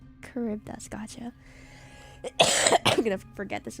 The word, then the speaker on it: Charybdis: Oh, Charybdis. That's how Charidus is said. They should spell it like that then. It's Greek, so the ch is a k sound. Charybdis, gotcha.